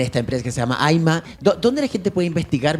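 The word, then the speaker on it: Ayma: Ya, el Aima, para los que no saben, se escribe A-Y-M-A, Aima.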